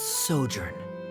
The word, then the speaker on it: sojourn: everything clear uh directors osimos how do you pronounce this word let me see Ah that's sojourn it means to stay for a while this